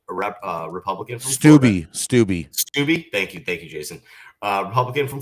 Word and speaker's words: Steube: Greg Steube, I hope I'm pronouncing that right, a Republican from Florida. Steube, thank you, Jason.